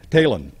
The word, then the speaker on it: Taillon: hall of fame psy tailin now alvin nelson's wife kay said that psy told her that it is pronounced just like taylor but you drop the r and you put an end on it and so that's good